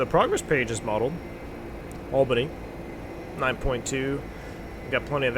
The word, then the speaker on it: Albany: just must be like clouds Mike H albinius pronounced Albany open the Albany is the nav Status